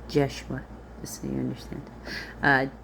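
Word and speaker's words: Yeshua: him across the way Joshua would not have been pronounced Joshua and there it would have been pronounced jeshua just so you understand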